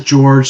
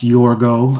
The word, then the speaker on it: George: Well, uh first up, my name is George. Sometimes pronounced Yorgo.